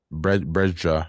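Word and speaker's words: Brejcha: Brea, that's how you say it.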